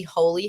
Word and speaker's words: Heauxly: Um, I operate the page Holistic Healing, but specifically Holy House. Um, and that's spelled H E AUX. So, big emphasis on hoe because we support all the hoes here. Um, and I created Holy House when I was